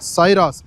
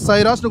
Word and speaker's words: Syros: இது கியானுடைய சைராஸ். எஸ், கியானுடைய latest addition, latest product இதுதான். அண்ட் இது நீங்கள் சைராஸ்னு கூப்பிடுவீங்களோ சிராஸ்னு கூப்பிடுவீங்களோ அது உங்களுடைய இஷ்டம். எப்படி ப்ரொனவுன்ஸ் பண்ணுறீங்களோ ப்ரொனவுன்ஸ் பண்ணுங்கள். ஆனால் சைராஸ் அப்படிங்கிறத அந்த பெயர்